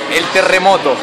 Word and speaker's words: terremoto: How do you say it in Spanish again? The earthquake in Spanish is el terremoto.